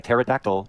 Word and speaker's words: pterodactyl: Why can't you hear a pterodactyl in the bathroom? Wait, wait, wait for it. Because the P is silent.